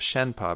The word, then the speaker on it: Shenpa: It's the pronouncing in putting into English letters how the Tibetan is pronounced. The Tibetan's different letters, but so I don't even know what there's this system called Wiley that gives what the actual Tibetan letters are using English letters, but how it's pronounced is Shen Pa.